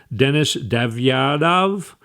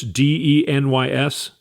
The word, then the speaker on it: Denys Davydov: His name is, I'm not going to pronounce it right, Denis Davyadov. It's Denys Davydov.